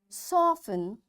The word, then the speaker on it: soften: Fasten, castle or castle, often, whistle, soften, hasten, bustle, and gourmet. There are different words, but in all these words, T is silent.